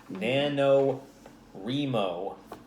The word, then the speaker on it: NaNoWriMo: writing a novel or trying to cuz it's nano remo that's how you pronounce it officially officially it's fine ignore the